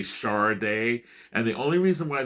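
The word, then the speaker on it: Sade: People say it's shardet shady. The reason why on her first album on their first album, Diamond Life, when they the the hype sticker would say would actually um do a phonetic type of thing and it would say Char Day.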